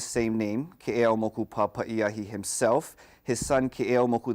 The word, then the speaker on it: Keʻeaumoku: So the appropriate way is Keʻeaumoku. Keʻeaumoku. Yeah, Okay. so there's the U that kind of tightens that O sound to a tighter U sound.